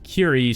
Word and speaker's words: Killy: The main character is Kiri, spelled Killy, which is supposedly supposed to be pronounced Kiri, but it is spelled in a weird way.